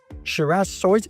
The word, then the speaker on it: Shiraz Soysa: We are so pleased to be welcoming Shiraz Soysa. Did I pronounce that correct? Yeah, that's right.